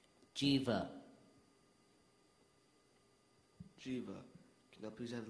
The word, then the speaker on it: jiva: the vital energy of life used in hinduism jiva are there any ultimate pronunciations none jiva jiva j i v a jiva hrab mireb